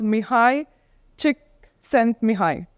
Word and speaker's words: Mihaly Csikszentmihalyi: I forget it because it's hard but it's pronounced mihai chick sent me high um and uh this gentleman whose name is